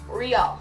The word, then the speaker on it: Reall: you been asking me how I pronounce my name and it is Riel so I hope that